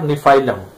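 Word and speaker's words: Gnaphalium: दूसरा कॉम्बिनेशन है GCMH, जी फॉर निफाइलम। जी इसमें साइलेंट है, निफाइलम इसको पढ़ते हैं, जी फॉर निफाइलम।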